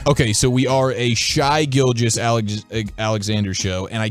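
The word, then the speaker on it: Shai: was Giannis LeBron and shy gilgis Alexander or is it Shay I say Shea okay speaking of name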